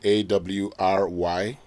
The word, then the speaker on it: awry: The pronunciation of the word A-W-R-Y, awry, and not ori, like some of us would be tempted to say.